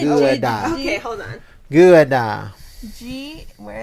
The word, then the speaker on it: Gouda: stuff town and close to Gouda, which is pronounced Ggaoeda. So say Gouda.